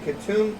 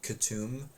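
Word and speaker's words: Katoom: uh Fantasy names like katum the spelling on it is just like totally crazy um yeah it's it's spelled it k-a-t-o-o-m but it's k-u-t-u-m um uh oh there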